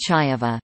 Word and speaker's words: Ceva: CEVA is pronounced Chaeva, Cevian is pronounced Chevian.